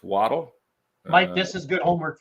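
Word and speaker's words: Chvatal: t l Jim waddle looks like shatel but nope it's waddle Mike this is good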